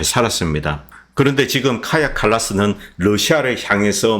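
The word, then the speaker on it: Kaja Kallas: 출신의 유럽 외교위원장 외교위원장이 제가 카자라이네이 발음이 잘못되었다고 합니다 카야 칼라스 아고 합니다이 카야 칼라스 그런데 부치는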